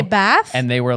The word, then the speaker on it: Bath: Which is pronounced Bath. I know this because I did a show. Like, people want to say Bath, but it's pronounced Bath. But Bath is the way you say it if you're British.